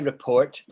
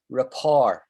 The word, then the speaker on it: rapport: it on the chat looks like report but we don't say report we say report repair the french way of saying it and rapport is